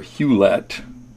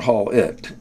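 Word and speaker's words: Hulett: its name was hollett pronounced either Hewlett or Hall it depending on which part of the country you're from the name was George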